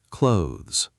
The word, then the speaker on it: clothes: Start with close, like the beginning of close. Now add the Z sound at the end. Close, clothes. Close, close, close. Try it a few times, letting the TH relax and almost vanish instead of forcing it.